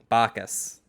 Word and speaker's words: Bacchus: the baby yeah i don't know how to pronounce it uh bachus bacchus bacchus yep uh the party god uh god of